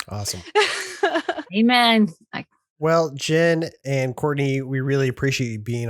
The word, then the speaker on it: Courtenay: No, it is pronounced Courtney, but it is spelled Courtenay, Enay.